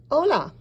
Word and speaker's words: hola: So remember, your H is silent.